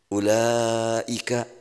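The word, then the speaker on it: أولئك: Ulaika, tulisannya ulaika, betul ya? Tulisannya kan begitu. Ada waw, laika, lanya nggak ada alifnya. Tapi bacanya dibalik.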